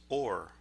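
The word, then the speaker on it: אור: The Hebrew word for light is pronounced or.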